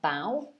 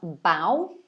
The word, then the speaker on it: bow: in this case it's the noun so a bow and then the verb form the pianist stood